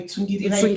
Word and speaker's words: Tsungirirai: So I usually like my Tsungirirai Tsungirirai pronounced as it is Okay.